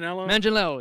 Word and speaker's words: Manganiello: I can't pronounce his last name. Manganiello, yes.